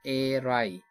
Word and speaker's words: Eyre: Question number 145 The surname of Charlotte Bronte heroine Jane Eyre is pronounced as। We have option यानी जो air, era, air and airy, and the right answer is option A air के नाम।